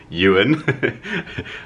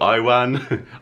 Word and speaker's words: Yuan: Everyone gets my name wrong. Yuan. I always get called Iwan, Ivan, Iwan.